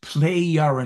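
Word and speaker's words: Plejaren: given him this information they're called the plerin right it's pronounced playar because the right that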